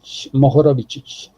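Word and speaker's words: Mohorovičić: Mohorovic. Carry on. Mohorovic. Okay, see how that's the C with the 2 above? Yeah. It's ch, and the one with the single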